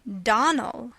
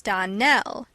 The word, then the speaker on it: Donnell: you pronounced our name donal now miss surely the correct pronunciation of our name is don nell accent on the last syllable i hope you remember